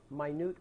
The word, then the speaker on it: minute: Well, it's actually that's what everybody says, a minute order. But let's say it correctly. It's a minute order. Minute. The word minute means small.